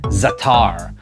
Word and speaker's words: za'atar: This is something that's called za'atar. Can you see that, Simone? Oh yeah. Yep. So this is called za'atar, and I guess the English pronunciation would be zatar.